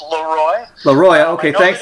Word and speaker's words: Leroi: just just a quick technicality it's uh it's leroy leroy okay thanks it's confusing it's french and you could be pronounced that way but we like to pronounce it leroy really want to get technical and and french